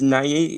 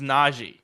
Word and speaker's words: Nagy: James Nagy? Is that how you pronounce it? James Nagy. Yeah. Nagy.